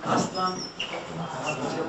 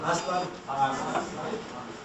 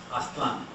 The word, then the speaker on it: Aztlan: On the second from the last syllable.